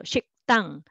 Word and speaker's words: 식당: So next one, syllable by syllable, 당, but together you will make a tense sound for the initial consonant here. So 식당, 식당.